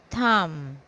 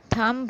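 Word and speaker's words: thumb: कम उसके बाद है थम थंब नहीं इसको हम थम पढ़ते हैं अंगूठा इसकी मीनिंग है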